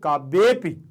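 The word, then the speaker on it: काव्येऽपि: अपि बोलेंगे तो आपको समझ में आ जाएगा कि आ बोला गया है, लेकिन जब आपसे बोला जाए रघुवंश काव्येपि तो आ का उच्चारण केवल महसूस होगा कि मैं आ बोल रहा हूं, लेकिन बाहर नहीं निकले। और जब इस आकार का उच्चारण बाहर ना निकले तभी इसका उच्चारण सही माना जाता है।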